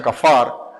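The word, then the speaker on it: כפר: hebrea que viene acá para acá pero se pronuncia kafar tiene que ver con lo que es cubrir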